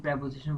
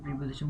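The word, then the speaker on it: preposition: পরামর্শ, on improving এটা প্রেপোজিশন পরে ভার্ব থাকলে ভার্বের সাথে আইএনজি যুক্ত হয়। আমরা অনেকে এটার উচ্চারণ প্রিপোজিশন বলে থাকি, না, এটার বেসিক্যালি শুদ্ধ উচ্চারণ প্রেপোজিশন, তাই প্রেপোজিশন বলাটাই বেটার।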